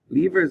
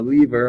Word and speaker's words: lever: required as well okay levers are also very helpful right um if you have um a lever or a lever however you want to pronounce it both ways are fine you can um lift